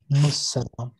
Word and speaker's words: assalam: Okay, whoever said it, but the correct pronunciation is assalam.